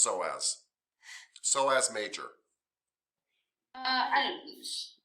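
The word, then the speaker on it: psoas major: just pronounced so as so as major i p f PS o yes yes that is pronounced so as major don't say the p p is silent the p is silent so please say again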